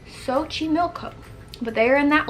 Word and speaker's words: Xochimilco: the name right here I'm going to attempt to pronounce it by Google giving me the pronunciation as Xochimilco Xochimilco but they are in